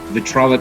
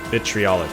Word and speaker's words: vitriolic: Then I want to cast Vitrolic Sphere in the center of the bridge. Okay. So you hold Vitrolic Sphere. Vitriolic Sphere. Vitriolic Sphere, thank you. Yes, there's an extra syllable.